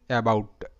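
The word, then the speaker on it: about: তো এখানে এ বি ও ইউটি, এটার উচ্চারণ কিন্তু অ্যাবাউট, অ্যাবাউট। তো এখানেও সেই সেম ব্যাপার, এখানেও কিন্তু এ অ্যা হিসেবেই উচ্চারিত। আর এখানেও কিন্তু এটাই আছে, এ এর পর একটি কনসোনেন্ট এবং তারপর একটি ভাওয়েল আছে।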